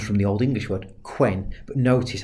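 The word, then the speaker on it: cwēn: Notice the Old English version, the Anglo-Saxon version, quen, Cwen. Okay, spelled very phonetically, much shorter vowel sounds.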